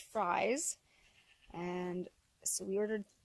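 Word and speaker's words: Frey's: So we ordered straight run from a hatchery in Ontario called, well, it's spelt like phrase, but I've been told it's actually pronounced fries.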